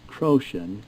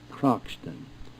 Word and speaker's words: Croxton: It is pronounced Croton and not Croxton.